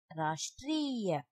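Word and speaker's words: राष्ट्रीय: Rashtriya. Again, truck. Train. Drama. Rashtriya. Rashtriya means national. Now you can identify the difference between the four ra. Here only half ra will be pronounced while pronouncing.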